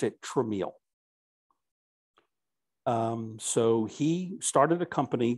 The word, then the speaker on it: Tramiel: So one of the constant, but very small, thorns in his side was when people saw our last names, they would pronounce it Tramiel.